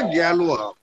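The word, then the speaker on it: Galois: থিওরির জনক তুমি গ্যালোয়া ওর উচ্চারণটা গ্যালোয়া হ্যাঁ এস এর উচ্চারণ নেই ফ্রেঞ্চ এভারেস্টে গ্যালোয়া এভারেস্টে গ্যালোয়া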